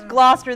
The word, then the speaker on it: Gloucester: difficult to remember name find something that rhymes with it and I use Gloucester the imposter it's an example of